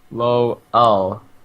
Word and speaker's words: Lowell: and a lee sin coming out of low oh that's what i'm told it's how it's pronounced oh i was curious